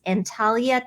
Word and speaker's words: Antalya: We could move to, I'm going to botch the pronunciation of this city, but I think it's Antalya, Turkey.